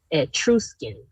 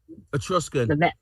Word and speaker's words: Etruscan: right, I don't want to say it wrong, Etruscan. Etruscan. Etruscan. ETRI something or the other. It almost puts you in the mindset of trust. ETRUS. Yeah. CAN. Yep. Same thing. Yep. Etruscan.